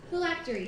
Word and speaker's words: phylactery: of Virginia this park the word is flatly phylactery am i pronouncing that correctly yes thank you can I